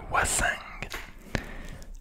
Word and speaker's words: wassingue: Donc ça s'écrit D-U-C-O-2-S-E, ducasse. Enfin, C-A, pardon, 2-S-E, ducasse. Alors, une wassingue.